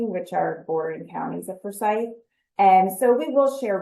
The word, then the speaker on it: Forsyth: And by the way, a lot of people say Forsyth, but I learned it's Forsyth. So just a little pronunciation lesson that most people don't know, especially if you're not from there.